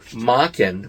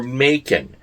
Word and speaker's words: Machen: Then we have my favorite, which is Arthur Machen or Macon. I recently watched a couple of interviews with Alan Moore, who was influenced by Arthur Machen, as he pronounces it, to write The